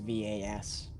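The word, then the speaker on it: Vaas: could you spell that out so I could pronounce it correctly in the series accent v-a-a-s um just vas masks I like that name it is nice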